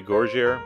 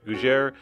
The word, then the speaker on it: Gougères: I think that's how you say it. I always used to say Gougères, but I don't think that's right. Gougères is a French puffed pastry.